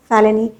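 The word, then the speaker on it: felony: Spelling से confuse मत होइएगा, इसका प्रोनाउंसिएशन है फैलेनी। ही was convicted of फैलेनी।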